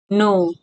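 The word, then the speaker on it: know: think T एच आई एन के think जानो नो के एन ओ डब्ल्यू नो इस्मा प के साइलेंट हु्छ तले के एन ओ डबल नो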